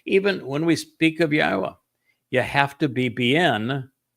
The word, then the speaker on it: Yahowah: He told us it was based on the verb haya which has two of the three letters in his name are in haya and no one is disputes how to pronounce haya and the book in